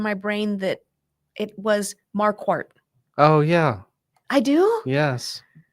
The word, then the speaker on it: Marquardt: and it said there's an R in there, so you have to pronounce the R. You don't pronounce the D at the end. You Uh-huh. just skip that and pronounce the T. And so that's why when I started practicing law, I told everybody it's Marquardt, like a quart of milk.